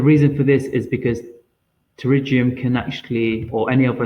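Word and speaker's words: pterygium: is one of the first nail disorders it's pronounced terium and what it is is inward advance of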